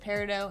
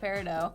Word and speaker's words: peridot: There's some controversy over how to pronounce peridot. Oh, don't say Peridot. Most people in the gem world call this peridot, but you will hear people call it peridot.